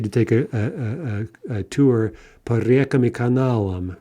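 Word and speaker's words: река: So let's look at reka, right, two-syllable feminine. In the plural, the stress jumps back. We get reki, and we keep that stress throughout the plural.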